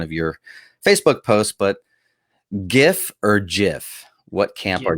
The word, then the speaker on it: GIF: Yeah, it's GIF. It's hard G. Yeah. Agreed. Period. If it were GIF, it would be spelled like the peanut butter.